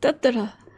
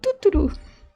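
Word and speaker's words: Tuturu: I think he said just Tutturu. It's not Tutturu.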